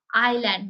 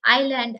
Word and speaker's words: island: right in the same way this is a island many people say Island as is land no it is not Islam